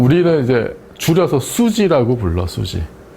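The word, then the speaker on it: SUSY: 근데 이 슈퍼시메트리를 보통 우리는 이제 줄여서 수지라고 불러, 수지. 실제 발음이 수지예요. 인터내셔널한 발음이.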